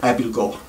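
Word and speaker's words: Abildgaard: i came across the word spelled a-b-i-l-d-g-a-a-r-d it's pronounced abilgo and i knew that i knew the word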